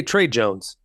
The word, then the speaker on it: Tre Jones: his name funny Jones It's Not Shay Tre Jones Trey Jones he uh moved in